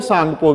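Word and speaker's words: Tsangpo: सही उत्तर है डी भाग, साप्पो भी कह देते हैं, सांगपो भी कहते हैं। इसमें टी जो है वो साइलेंट वर्ड रहता है।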